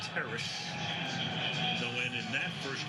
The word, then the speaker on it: Terrace: Yes, that's how he pronounces his first name, Terrace.